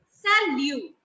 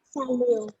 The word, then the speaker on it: salut: Hi or hello is salut. Salute. Salut. And T is silent in the end.